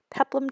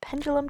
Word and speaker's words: peplum: there and explain that my whole life I've thought that peplum tops were actually pronounced pendulum tops until I had to